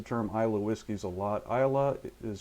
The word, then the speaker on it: Islay: Isla is spelled I-S-L-A-Y, I-S-L-A-Y. A lot of people would think it's Islay or Islay or something like that, but it's actually Isla.